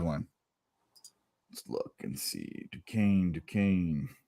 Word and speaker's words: Duquesne: Duquesne. Rhymes with cocaine. There we go. Not spelled like it, though.